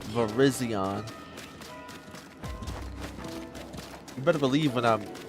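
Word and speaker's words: Virizion: Yep, that's how you say it, too. Verizion.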